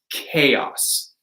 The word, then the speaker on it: chaos: This is going to be a K sound. This is a Greek word, right?